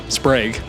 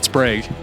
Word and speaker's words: Sprague: We learned that it's actually pronounced Sprag. Sprag. Remember that. Sprag.